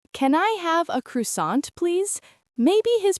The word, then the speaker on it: croissant: He says, "Can I have a croissant, please?" Maybe his pronunciation isn't perfect. Maybe he says Croy Salant instead of Croissan.